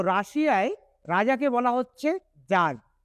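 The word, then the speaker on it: tsar: তো রাশিয়ায় রাজাকে বলা হচ্ছে যার। এখানে কিন্তু টি এর উচ্চারণটা সাইলেন্ট থাকবে। টি এস এ আর মানে হচ্ছে যার।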